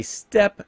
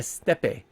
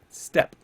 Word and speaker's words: steppe: And basically because it's the vocabulary, the spelling of it, S-T-E-P, like steppe, but then it has a P-E at the end. Still says steppe. You still pronounce it steppe.